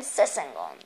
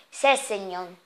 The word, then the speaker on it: Sessegnon: E ora andiamo a acquistare Steven Sessegnon. No, non si pronuncia così. Sessegnon.